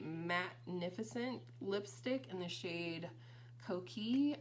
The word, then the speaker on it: Coquille: Next was the Stila Stay All Day Magnificent lipstick in the shade Coquille, I think is how you guys told me to pronounce it.